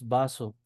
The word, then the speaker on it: vaso: For example, b and v are pronounced always are always pronounced as b. For example, uh the word vaso is pronounced vaso. And uh vaso is pronounced in the same way bus.